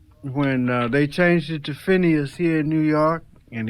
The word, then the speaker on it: Phineas: Well see they used to pronounce it almost like with us finest. Yeah finest you know that's it was almost like beginning with an F.